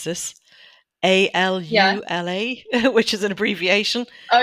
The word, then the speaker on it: AlUla: the book I have no idea how to pronounce this a l u l a which is an abbreviation oh yeah can can